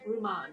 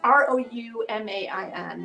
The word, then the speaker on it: Roumain: this is a piece by Ruman. Oh, now I'm pronouncing his name wrong. Oh no, that's not good. Anyway, it's the Parks Quartet. It's in honor of Rosa Parks, and this is Roumain.